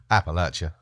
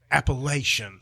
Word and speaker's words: Appalachia: you how do you how do you pronounce Appalachia Appalachia okay okay because there's no other way there is no plenty of people that are not from around here for some reason say appalation I it drives my ears crazy I